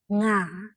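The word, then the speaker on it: ငါး: In Burmese, we have the same sound fish and five. Like the fish in the water is called nga. And number five is also called nga.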